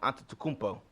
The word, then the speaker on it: Antetokounmpo: But I'm gonna like to see him and Antetokounmpo. That's how you pronounce his name.